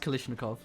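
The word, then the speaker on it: Kalashnikov: it's pronounced Kalishnikov.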